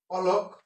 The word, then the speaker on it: অলক: অলক, একটা হচ্ছে অলোক, লিখছি অলক কিন্তু সঠিক উচ্চারণ হচ্ছে অলোক।